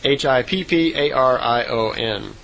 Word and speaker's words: Hipparion: And she said the horse back then was called a Hipparion, or Hyperion. I'm not sure exactly how it would be pronounced. It's Hipparion.